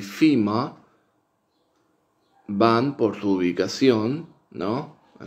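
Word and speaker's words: femur: este par, que es, en inglés se pronuncia fima, fima, fima, y que en inglés,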